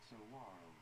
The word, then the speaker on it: saguaro: Saguaro. The name of a tree-like cactus, Zona stilotus faro. Yes, there is a W sound in the middle. Saguaro.